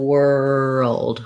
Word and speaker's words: world: what i talk about is thinking about building from er and then adding your w er wer and then adding your dark l whirl o and world world so take any of